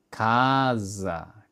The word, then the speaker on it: casa: que o s eh se é dentro no meio da palavra, se encontra no meio da palavra e é só um s, ele vai ter o som de Z, tá? Z, casa, né?